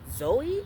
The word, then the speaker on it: Zoje: her name is pronounced Zoe stage it's it's spelled z o j e but I think it's pronounced Zoe Zoe stage um it was